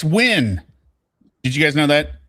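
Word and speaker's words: Nguyen: Officer Noin, he does little Well, not little, but it's It's not new, it's win. Did you guys know that? Ngen is pronounced win.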